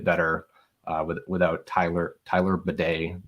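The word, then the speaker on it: Badie: pronounce that guy's name I've been told I do it wrong but it's bad I believe okay like like the like the thing that you hook up to the toilet okay yeah exactly like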